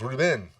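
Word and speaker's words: Reubens: that's excuse me paul reuben yeah well it's pronounced ruben stop he's a friend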